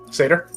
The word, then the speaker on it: satyr: As reading through, he notices the sitter, or how do you pronounce it? Sitter? Satyr?